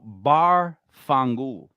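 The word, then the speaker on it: Barfongool: for like a light of beer what about bar fungu because that's the name of my bar and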